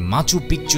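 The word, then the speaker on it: Machu Picchu: সভ্যতার অন্যতম নিদর্শন হলো মাচু পিচু অনেকেই এটিকে উচ্চারণ করে থাকেন মাচু পিচ্চু হিসেবে যার অর্থ হলো পুরনো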